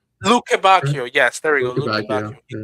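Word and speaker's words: Lukebakio: Um I can't pronounce his name. Luc Lukembbe or Lukak Lukakio I think. Lukbakio.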